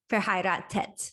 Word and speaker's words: verheiratet: But they don't say TH. They just would still pronounce this verheiratet. So both words would be pronounced the same. And this H doesn't really make a difference to the pronunciation.